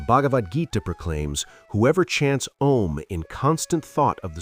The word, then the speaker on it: Om: On an exhale, chant om, pronounced a u m. Let the sound naturally roll from your belly a through the throat u, and finish at the lips m.